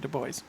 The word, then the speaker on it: Dubois: du bois it is they pronounce it the boys oh okay uh actually